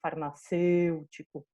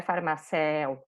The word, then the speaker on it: farmacêutico: se vocês conseguem perceber farmacêutico não é farmar céu farmacêutico sem então isso é